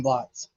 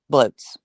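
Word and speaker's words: blót: I keep saying blots. Bloat. How do you spell that? It is spelled like a blot. B L O T, but it's a Norse term, so it's pronounced bloat.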